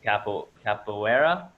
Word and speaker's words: capoeira: I'm gonna fuck this up, so I'm just gonna say you do capoeira.